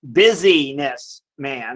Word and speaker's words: businessman: He was a businessman, pronounced busyness man.